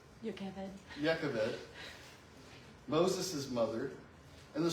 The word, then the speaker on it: Jochebed: Ashlin has already pronounced her name Yakaved.